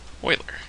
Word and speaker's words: Euler: a biography of Leonard Oiler okay Oiler his last name is actually pronounced as Oiler and here's a picture